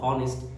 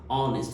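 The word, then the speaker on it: honest: আছে এইচ লেখা থাকলে সাধারণত কি পড়বা হনেস্ট এইচ ও এন এস টি অনেস্ট বাট আমরা পড়ার সময় কিভাবে পড়ি অনেস্ট তার মানে হচ্ছে এইচটা এখানে কি থাকে সাইলেন্ট থাকে এরপরে আওয়ার শব্দটা হচ্ছে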